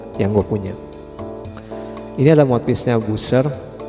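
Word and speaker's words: Buescher: waktunya ini lemot bisnya Buser bacanya bener kasih jadi kayak Buser ya Aduh tulisannya emang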